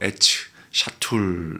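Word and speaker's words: עץ שתול: 심겨진 나무가 심겨진 나무가 심겨진 나무라고 돼 있는데 이게 히브리어로 애츠 샤툴 이렇게 발음을 합니다.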